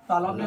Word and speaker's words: तालव्य: बहुत सारे बच्चे बोलते हैं तालब सो, नहीं कोई बोल देता है सो है ना, लेकिन इसका जो है सही उच्चारण होगा तालव्य तो वही है ना, और स बोलेंगे तालव्य।